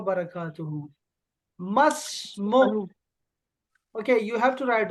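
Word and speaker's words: ما اسمك: होगी तो मैं कहूंगा मस्मुकी, तुम्हारा नाम क्या है लड़की। लेकिन इन दोनों को खत्म करो, आप सिंपली बोलो मस्मुक, तुम्हारा नाम क्या है। ये जो दो अलिफ हैं, ये दोनों अलिफ साइलेंट, खत्म।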